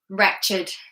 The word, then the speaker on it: wretched: However, with adjectives, there are some exceptions to the rule. So do watch out for that, for example, naked, blessed, wretched. These do not follow the same rule.